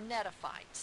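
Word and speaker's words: Gnetophytes: and then there are Netta fights the G is silent and there's 70 species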